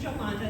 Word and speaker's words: Jolanda: so i uh so i my name is joe monda that was great pronunciation thank you jay and uh i know